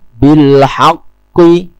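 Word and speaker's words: بالحق: bilhaqqi wa tawasau bis-sabr Hati-hati, kata bilhaqqi, qof memang memiliki sifat istila, bukan dengan cara mengatupkan bibir atau mencibir ketika qof memiliki vokal kasrah. Bilhaqqi, cukup dengan mengangkat pangkal lidah, bilhaqqi, qi, bukan dengan cemberut.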